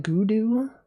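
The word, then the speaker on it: Godot: I pronounce it Gudu. I don't I don't pronounce it like that, but you are allowed to if you want.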